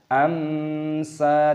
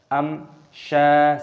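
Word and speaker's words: أَمْشَاجٍ: Pertemuan mim sukun dengan syin, aturannya dibaca sebagai izhar syafawi, dibaca dengan jelas, jangan dibaca dengan gumaman. Amsa tidak diperbolehkan , kita harus membacanya dengan jelas. Am sya, seperti itu.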